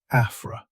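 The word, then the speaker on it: Afρ: One useful shorthand for dustiness is a parameter called AFA, pronounced like a fro.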